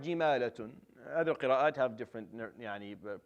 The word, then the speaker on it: جمالة: So for our qira'ah, it's jimalatun.